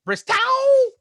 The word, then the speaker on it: Bristow: I am told, I am sorry, I'm getting right here right now, the incorrect pronunciation of his last name. It's actually Bristow.